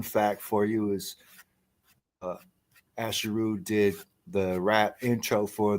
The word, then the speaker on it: Asheru: for all these years I was pronouncing dude's name wrong I was saying asheru as if it wasn't jayu shame ashero y'all get it right yeah yeah um so